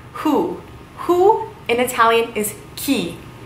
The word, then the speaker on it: chi: why okay so who who in Italian is key key it looks like chayo lost but it is pronounced key who gee who is it yeah